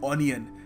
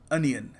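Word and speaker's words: onion: शब्द है अनियन अनियन इसको हम अपने भोलेपन में कह देते हैं ओनियन क्योंकि ओ लगा हुआ है but again English is a very funny language so you must pronounce it अनियन यह इसकी करेक्ट प्रोनंसिएशन है सो याद रखिएगा ओनियन नहीं अनियन देखिए अगला शब्द है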